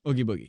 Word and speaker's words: Oogie Boogie: And also, okay, how do you pronounce his name? Oogie Boogie? Oogie Boogie.